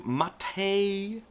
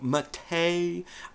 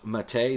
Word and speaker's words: MATE: take a look also at a boon to matei now every time I talk about this distribution this giant debate comes up about the pronunciation of matei I know that this looks like mate ladies